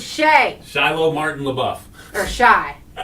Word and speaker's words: Shia: It's Shay.